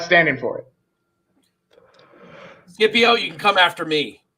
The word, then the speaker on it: Scipio: That's It starts CPO. Yeah, but it's pronounced Scipio.